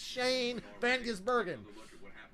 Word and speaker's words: Shane van Gisbergen: It's Shane Van Gisbergen.